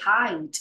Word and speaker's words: height: makes a mistake in in height pronunciation she pronounce it like he no height it's like hi hello how are you today height you know height right uh hi height here